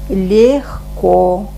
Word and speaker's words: легко: Возьмем вот такой вариант, когда мы пишем Е, а произносим Это, например, в русском языке можно встретить такой звук в словах весна, легко. Вот это легко, да?